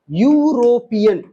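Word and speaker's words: European: ही इज ही इज ये यूरोपियन इसका spelling देखो है वोवेल से स्टार्ट है लेकिन इसको क्या कहेंगे बताओ यूरोपियन यूरोपियन इ यू आर ओ पी इ एन यूरोपियन यो क्या है व्यंजन है कि स्वर है स्वर अ आ इ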